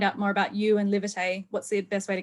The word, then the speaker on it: Livitay: It's like live it and then AY.